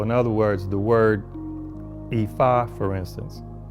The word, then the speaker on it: Ifa: instance, he said to pronounce that correctly, the I is a mid tone. So, that's re, do, re. And then so, so it's re, so, re, so. E, fa, e, fa. Is the proper way to pronounce it.